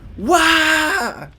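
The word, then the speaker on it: Waaagh: It's pronounced like war without the R. Wah!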